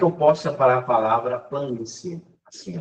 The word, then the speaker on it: planície: E a palavra paroxítona é quando a tonicidade recai onde? Na penúltima sílaba, aqui. Ó. E essa palavra planície, ela é acentuada por ser uma paroxítona que termina em ditongo.